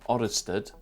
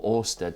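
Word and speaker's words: Ørsted: was discovered by hans christian oristad or orsted sorry in 1825 so which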